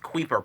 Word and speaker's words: Kuiper: It's pronounced Kuiper belt.